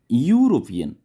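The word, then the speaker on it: European: और यूरोपियन यहाँ पे लिखा गया, देखिए यूरोपियन ई से शुरू होता है. ये वावल लेटर है लेकिन वावल लेटर ई रह के ये प्रोनाउंस करता है वाई को.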